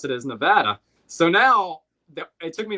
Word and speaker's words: Nevada: My elementary school teacher taught me the way to pronounce Nevada was Nevada. So when I went out west, I would say Nevada. And they would look at me like I was an alien.